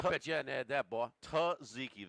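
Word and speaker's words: tzatziki: Tziki. The first Z is silent. Taziki. Tuzziki.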